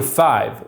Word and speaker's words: cinq: where we usually say 5 minutes with a silent Q.